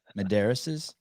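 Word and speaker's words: Medeiros: attention because he's justin medeiro how do you say his life name medaris unbelievable the disrespect for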